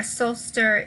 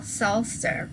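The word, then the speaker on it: psalter: mill solster and a solster is a book of psalms so both psalms and soul star oddly do not pronounce the p and they are from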